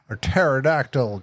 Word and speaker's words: pterodactyl: Like, oh, why can't you hear a pterodactyl go to the bathroom? I don't know why. Because the P is silent.